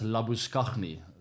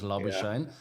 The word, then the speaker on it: Labuschagne: Marnus Labuschagne. That's how you pronounce it, by the way. It's not Marnus Labuschagne. I know he likes to go by that name these days, but he'll never be Marnus Labuschagne in South Africa.